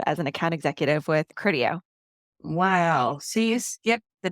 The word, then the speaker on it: Criteo: So then, did I know you when you were at cardio, or No, it's Criteo. It's a made up word, so don't worry about saying it wrong.